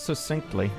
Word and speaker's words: succinct: It's not succinctly, it's succinctly. Succinctly. Succinct. Succinct. You can even see it there. Succinct. It's a hard K.